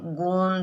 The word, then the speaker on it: गोंद: अपन, गोंद, तो गोंद, इसमें ओ जो है ये अनुनासिक स्वर है, क्योंकि अपन गोंद उच्चारण करते हैं गोंद, तो जो श्वास वायु मुंह से और नाक दोनों से निकलती है, लेकिन फिर भी